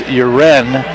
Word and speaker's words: Uren: I think you're right I keep saying urine because that's how it's spelled but it's uren yeah and we certainly